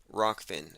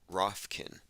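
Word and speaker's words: Rokfin: I'm going to call it Rockfin unless they continue to blackball me, in which case it will go back to Rofkin.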